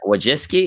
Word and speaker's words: Wojcicki: Wojcicki?